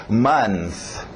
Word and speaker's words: month: Então, month. Month. TH de sapo no final.